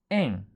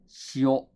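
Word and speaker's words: 塩: The next kanji is en, en or shio, shio.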